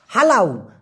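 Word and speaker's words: halau: কষ্ট হওয়ার কথা না আমরা তো পোলাও খাই খাই না সেই পো এর জায়গায় হা লাগায় দিবেন পোলাও না বলে বলবেন হালাও মানে হচ্ছে তাড়িয়ে দেওয়া যেমন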